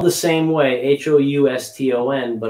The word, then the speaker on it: Houston: new york city uh spelled the same way h-o-u-s-t-o-n but it's pronounced houston in new york new yorkers called